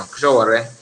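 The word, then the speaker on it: Sowore: Not Showore, Showore, yeah, Showore, that's the correct pronunciation, Showore.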